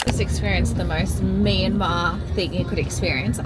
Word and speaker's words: Myanmar: And if you don't know much about rubies, Myanma Myanmar, sorry. I keep it up. Also so embarrassing. I've been saying it wrong, which I knew.